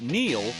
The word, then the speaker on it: Neil: It's no coincidence that Neil rhymes with deal, because that's something you could always count on with the leader in tires and auto repair for nearly a century.